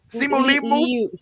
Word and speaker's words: Simu Liu: Simu Liu.